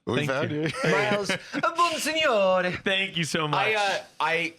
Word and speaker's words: Bonsignore: When I was growing up, I would say it was Bonsignore. And then after doing the Try Guys podcast, they would call me Miles Bonsignore, which is how it is actually pronounced.